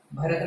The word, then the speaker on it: भरत: भरत में कैसे पढ़ेंगे अपन, भरत, भरत, भरत, ठीक है। ता के बाद थोड़ा आ का उच्चारण निकालना पड़ता है, ठीक है। ता पे अपन को जो है जो जीभ को तालू से हटाना है, तालू पे रोक